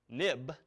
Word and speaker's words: xib: application now but also this xib file pronounced of course nib and ib for historical reasons it went as soon as the nib file became an xml file they renamed it xib but we still say nib now notice nib or